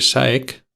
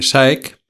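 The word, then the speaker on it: DSAEK: por sus siglas en inglés está la de SAEC, que se escribe D S a E k y luego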